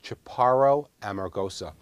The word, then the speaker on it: Chaparro Amargosa: on the board because people confuse it with chaparral it sounds a little chaparral e because it's also a Spanish name but it's Chaparro Amargosa you can see mr